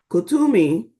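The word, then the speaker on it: Kuthumi: look within you already know what you see Kumi Kumi it gives me the phonetical explan uh word phonetical pronunciation Kumi is an ascended master who appears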